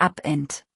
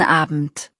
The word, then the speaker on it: Abend: Abend hat ein weiches E, nicht Abend.